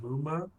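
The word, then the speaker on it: 夢魔: little TL here that the Japanese use MMA, pronounced Muma.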